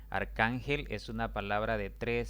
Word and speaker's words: arcángel: l debo colocarle tilde aquí hay otra palabra arcángel arcángel es una palabra de tres sílabas la mayor intensidad recae en la penúltima